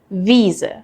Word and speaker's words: Wiese: Weise versus Wiese. They look similar but sound totally different. So how do you tell them apart? EI is pronounced like I and IE is pronounced like E.